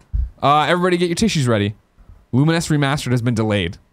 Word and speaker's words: Lumines: I mean, how'd you pronounce it? Luminous. Yeah, I thought so. Okay. Yeah. I used to call it Lumines when I was just playing on PSP and had no idea.